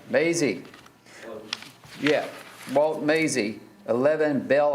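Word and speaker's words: Mazzei: Somebody, it's spelled M-A-Z-Z-E-I. Is he here by chance? I want to say Maisie. Maisie.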